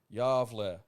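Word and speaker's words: Gävle: your attention to the, Gavelboken, or Gavel goat, pronounced Yavle, okay?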